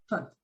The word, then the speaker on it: hut: Hat, hot, you open your mouth a lot. And the other one, you close your mouth, almost like hut, hut, hut. You see, I don't know if you can see my lips. You say hut, hut, hut. But when I say hat, sombrero, hat, I open my mouth. And when it says like hot, so you see, very, very different.